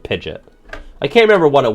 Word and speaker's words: Pidgeot: paratext that said that the true pronunciation of Pidgeot was Pidgeot? I remember seeing that as a kid and being like, go fuck yourself. Go fuck yourself that it's called Pidgeot.